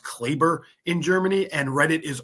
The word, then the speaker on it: Kleber: And so, a move like this that gives Dallas more versatility, makes them deeper, no offense to Maxi Kleber, but at the end of the day, give